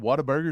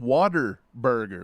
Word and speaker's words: Whataburger: come out and said Whataburger is not pronounced Whataburger it's called Water Burger like water w-a-t-e-r official released by Whataburger